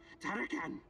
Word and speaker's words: Tarakan: Tarakan is more real than you okay, are.